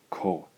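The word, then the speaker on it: こ: All right, our final syllable in the K line is the combination of the K consonant and the O vowel. Gives us the sound ko.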